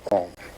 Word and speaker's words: Om: It's written A-U-M. You start in the back of the mouth, ah, and then oo, you fill the mouth, and closes at the mouth. And when you pronounce this properly, all vowel sounds are in that pronunciation. And consonants are regarded simply as interruptions of Om.